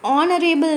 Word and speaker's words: honorable: An honorable man. H is silent, honorable, o.